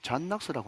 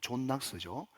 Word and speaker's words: 존 낙스: 여러분 에피소드 하나를 말씀을 드리면 여러분 스코틀랜드에 종교개혁자 잔 낙스라고 하는 사람이 있었어요. 존 낙스죠. 영식 발음으로 하면.